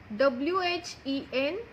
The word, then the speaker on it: when: Now WHEN, when. Now here children, H is silent.